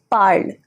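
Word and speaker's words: parles: Easy way to remember the endings, easy way to remember the pronunciation is that the endings E, es, e and ent do not change the pronunciation of my root.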